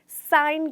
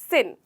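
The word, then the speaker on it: sign: लेकिन यहाँ पे हम इसे जिस तरीके से लिखते हैं ना दोस्तों, उस हिसाब से हम इसकी प्रोनाउंसिएशन साइन करते हैं, ना कि सिन।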